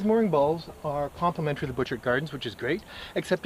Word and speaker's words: Butchart Gardens: little Inlet called butchered Inlet in fact that's the butchered gardens which is a very very famous incredible natural